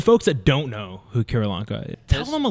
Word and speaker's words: Keralanka: Keralanka.